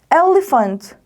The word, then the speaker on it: elephant: elephant. 코가 긴 동물이죠. 코끼리를 영어로 elephant라고 합니다. PH인데 발음이 이상해요 라고 생각하지 말고 PH는 F 발음이 난다고 했어 라는 거 꼭 기억하셨으면 좋겠어요.